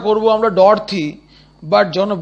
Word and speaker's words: Dorothy: along with his sister Dorothy, উচ্চারণটা করবো আমরা ডরথি, বাট যখন বানানটা লিখবো, স্পেলিংটা যখন আমরা লিখবো তখন লিখবো DOROTHY, ডরথি, নইলে আমাদের বানানটা কিন্তু ভুল হয়ে যাবে লেখার সময়।